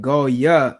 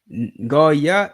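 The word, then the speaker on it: גוים: So you don't pronounce this word as Goy. Why? There are no O sounds.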